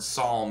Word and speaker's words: psalm: i know that's why the word psalm is written with a silent p because we don't pronounce